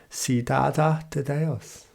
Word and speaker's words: Cidade de Deus: Or I'm going to go the Brazilian Portuguese pronunciation of it, Cidade de Deus.